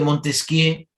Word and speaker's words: Montesquieu: El caso de Montesquieu, que por si acaso no es Montesquieu, porque en francés nunca se pronuncia la última, por si acaso, ¿no?